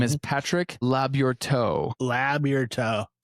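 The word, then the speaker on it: Labyorteaux: Labourteau. So like it's French as shit for sure. So Patrick, I'm labbing your toe. Like Labourteau.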